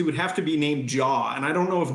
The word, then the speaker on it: J.A.: have to be named Jaw, and I don't know if Jaw Busak would go over well. Wow. Name him after J.A. Hatt. Ooh, that's a good point. But actually, he pronounces it J.